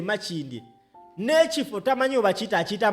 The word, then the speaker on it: Makindye: Nze nkukakasa omusajja e Makindye n'ekifo tamanyi oba akiyita Makindi gwe baataddeko gwe balese nga ali unopposed, tamanyi na pronunciation y'ekifo kyakiikirira akiyita Makindi.